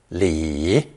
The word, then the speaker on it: 里: to the surrounding landscape it's also pronounced third tone Li Lee at one time